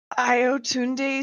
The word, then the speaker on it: Ayotunde: You gotta elongate the O's though. Like turn that single syllable into like a 12 syllable. Ayotunde, like that.